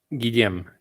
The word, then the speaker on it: Guillaume: How many syllables in that? Guillaume, 2 syllables.